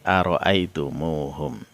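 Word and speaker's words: أرأيتموهم: mereka nah nah baik jadi aroaitum home dibacanya menjadi Arai tomohom Nah dari empat contoh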